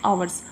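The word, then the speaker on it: hours: इसके साथ हम लोग यूज़ करते हैं एन, जैसे आवर्स। आवर्स में क्या है? एच साइलेंट है तो ओ प्रोनाउंसिएशन हो रहा है, ठीक है, मीन्स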